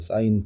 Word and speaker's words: sin: 자, 원래 사인이라는 단어가 조금 더 알파벳이 긴데 줄여서 sin까지만 쓰고 읽을 때는 사인이라고 읽어 주면 돼.